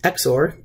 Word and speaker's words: XOR: and then finally the last gate is an exor gate so it's pronounced exor uh and you can see here this is